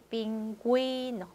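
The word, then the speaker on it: pingüino: 그래서 우에, 우이가 발음이 살아있기 위해서 점 두 개 찍혀 있는 게 있다. 그래서 구에 구이가 되려면 점두 개. 자, 이거는 다른 철자에는 없죠. 딱 여기에서만 나오죠. 빙구이노, 빙구이노. 펭귄이죠. 그래서 우 발음이 살아있으려면 이때 점두개 찍어주시면 된다는 거.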